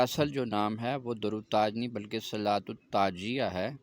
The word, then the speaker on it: درود تاج: کھاتے تھے۔ اور درود تاج شریف کا جو تلفظ ہے، لوگ اس کو درود تاج پڑھ دیتے ہیں، حالانکہ اگر ہم درود تاج پڑھیں گے تو اس کا مطلب ہوا کہ